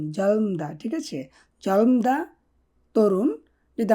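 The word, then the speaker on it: 젊다: আর কি জলমদা তরুণ এখানে উচ্চারণটা হবে জলম জলম জলমদা ঠিক আছে জলমদা তরুণ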